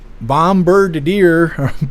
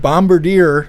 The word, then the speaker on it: Bombardier: Got a EX bombadier. Bombardier is how you say it.